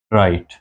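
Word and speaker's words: write: ये W silent है यहाँ पे, W। ये आई राइट, यू राइट, he rights, W की आवाज़ नहीं है, तो R से हम शुरू करते हैं।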